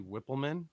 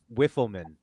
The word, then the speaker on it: Whippleman: can you just bob did you say his name harvey whippleman i think todd and i heard you call him wiffleman oh i'm sorry if